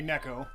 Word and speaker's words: Neko: the cat or Niko it would be neck oh because neck Oh is Japanese for cat but I call her Neko anyway in one of